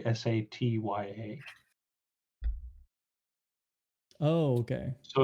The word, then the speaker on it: Satya: i'll say now is that pronounced sapiya or satya whichever one whatever the correct pronunciation is okay yeah it's like so if he were to try and spell it in common it would be like s-a-t-y-a oh okay so it's like sat ya satya